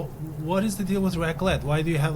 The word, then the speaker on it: raclette: Is it raclette?